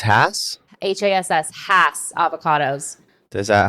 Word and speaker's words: Hass: Haas. No, it's not. Haas? That's how I've always pronounced it anyways.